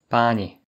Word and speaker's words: páni: Les voyelles peuvent être courtes ou longues. Les voyelles longues sont indiquées à l'écrit par un accent aigu. La différence est importante, comparée. Pani. Madame. Pani.